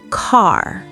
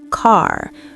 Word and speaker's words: car: In British English, they don't always pronounce the R at the end of words. They might say ca instead of car.